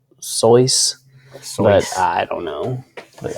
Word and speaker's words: Seuss: supposedly in an interview he said it wasn't pronounced seuss it was like soyuz but i don't know